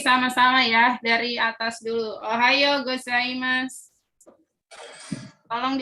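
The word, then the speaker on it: おはようございます: Ohayo gozaimasu. Tolong diucapkan.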